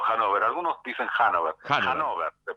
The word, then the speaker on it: Hannover: Hannover se pronuncia. Bien, Hannover.